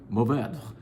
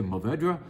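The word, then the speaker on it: Mourvèdre: least my old friend, Mourvedre. Mourvedre, you can pronounce that last syllable. You can say Mourvedre. The French would gasp or breathe that final syllable. They would say something like Mourvedre.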